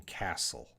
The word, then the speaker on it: castle: true silent t word maybe castle definitely uh we don't hear a t sound in castle castle there's no t sound there's a silent t all right so the